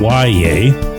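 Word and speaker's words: Yahya: Why Yea Black is the young man's name. First name is spelled Y A H Y A, but it's pronounced Yea.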